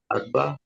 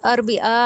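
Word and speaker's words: الأربعاء: सब अल अलैन अल अरबा अलस अल जुमा ये अरबा नहीं है अरबिया है अल अरबिया अस्त हफ्ता अल अहद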